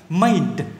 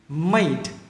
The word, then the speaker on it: made: chuẩn cho mình nè, made. Âm này âm d, d, d, âm cuối này, d này.